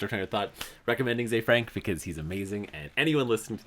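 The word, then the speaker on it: Ze Frank: So the channel is called Zay Frank 1, and it's spelled Z-E, and then just Frank 1. Oh, okay. Yeah, Zay Frank.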